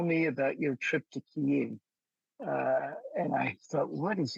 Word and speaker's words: Kyiv: So on 3 days' notice, I flew to Kyiv, which in those days we called Kiev, the Russian pronunciation of the word.